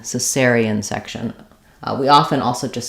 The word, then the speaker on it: cesarean: the pronunciation is cerian with stressing on the second syllable s so it sounds like s s e n cesarean so there it was they performed a cesarian cesarian section we often also